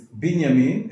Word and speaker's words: Binyamin: Vinyamin, it's Binyamin if there's no vav, because it's the first letter of the word. We've explained it another time. Beged kefet or shmila. But if you add the vav, so it becomes a Vinyamin instead of Binyamin.